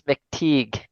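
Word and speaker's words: McTeigue: Yeah, so I believe it's James McTeague. James That's McTeague.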